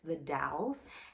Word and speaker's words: The Dalles: we drove out uh through the gorge to the dalles thank you guys for telling me how to actually pronounce it it's the dalles it's this sleepy quiet little town about an